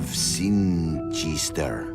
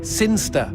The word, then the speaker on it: Sinchester: But Elliot Thomas was still stuck down on Earth in the boring town of Sinchester. Sinster. What? It's pronounced Sinster. How do you know? My cousin's from Sinster.